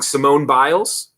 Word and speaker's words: Simone Biles: And then last in the story of bad news for Nike, I always say this name wrong, Simone Biles.